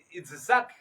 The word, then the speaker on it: Itzhak: Los nombres tienen su pronunciación en hebreo y según el sonido, según los fonemas, los traductores trataron de darle algo parecido. Por lo menos Salomón es Shlomo, Isaac es Itzhak.